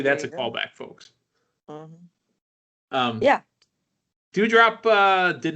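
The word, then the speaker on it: Doudrop: Her name's Dewdrop. It's spelled like D-O-U.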